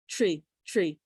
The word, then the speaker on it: tree: and tree interestingly enough tree has almost like a ch sound to it to where young children might spell it chr tree tree and i hadn't realized